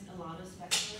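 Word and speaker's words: Ilana Spector: You can't pronounce that, it's me. My name is Alana Spector.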